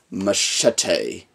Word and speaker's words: Machete: I don't know what will next one is Machete and that's how you pronounce the name I like all of Robert